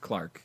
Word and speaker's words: clerk: I mean, because our surname is based off of the word clerk, which is pronounced Clark in the United Britishdom.